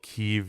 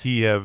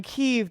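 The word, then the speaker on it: Kyiv: I think it's called Kev now. Are we saying Kiev? Kiev is the imperial pronunciation. The Russian imperialist pronunciation.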